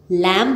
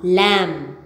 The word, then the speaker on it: lamb: of them can danaka silent B after M incurring it will be